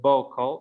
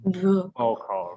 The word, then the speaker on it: vocal: Remember, miren que no estamos diciendo vocal, sino vocal, right?